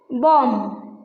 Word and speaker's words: bomb: Bomb. See, bomb. This B is there, but it doesn't pronounce.